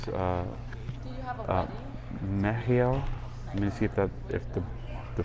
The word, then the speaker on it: Mehiel: Mehiel. Let me see if the pronunciation is correct, or at least according to this book. Mehiel.